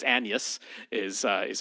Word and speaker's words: Agnes: William Shakespeare and uh and uh his wife u her name is spelled as Agnes but it's Annas is uh is how she pronounces it.